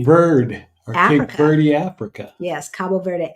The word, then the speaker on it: Cabo Verde: or Birdie Africa yes Cabo Verde Africa um or cap verd As Americans say it and you y'all